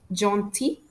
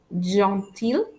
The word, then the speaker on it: gentil: Final L is usually silent after the letter I, which means when a word ends with IL, we don't pronounce the letter L.